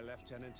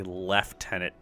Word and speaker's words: lieutenant: you should ask my leftenant instructors I I hate how Lieutenant is spelled and they say leftenant hate it actually we